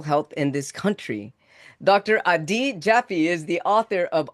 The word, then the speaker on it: Adi: So the first name is actually pronounced a D. Like pretend I know you had never have, but pretend you got a really bad grade on the test. So it's a D.